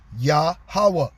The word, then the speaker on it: Yahweh: The closest correct pronunciation that we have of the true name of the Most High, YHWH, is Yahweh. Okay? HWH is pronounced Hawa. Okay? Hawaha, actually. The Y is Yah.